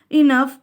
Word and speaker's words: enough: So the letter GS together make the F sound in enough.